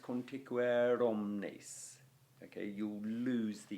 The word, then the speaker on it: conticuere: So, right, the very first syllable, conticuere, that is a long O because it's O followed by N and T.